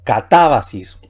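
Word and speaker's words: κατάβασις: Aquí tenemos la última sílaba, sis, va la penúltima y ta la antepenúltima, y también puede ir el acento agudo ahí. Así que la palabra aquí sería catábasis.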